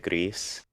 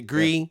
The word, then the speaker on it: Gris: differently yeah is it gree is it greece is it gris i think because it's uh a team from barcelona right so i i lean toward it being more spanish pronunciation that's probably correct